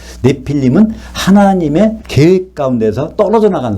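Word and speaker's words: נפילים: 합니다 임자가 붙으면요 그러니까 계속 네피림이란 단어는 원래는 발음이 내 필름이에요 내 필름은 하나님의 계획 가운데서 떨어져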